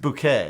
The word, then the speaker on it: Bucket: bouquet well it's spelled bucket but it's pronounced bouquet right no i'm not that british shell i